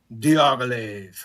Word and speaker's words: Diaghilev: Diaghilev.